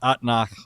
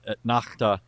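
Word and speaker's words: אתנחתא: or something like that, it'll be pronounced atnach or atnachta.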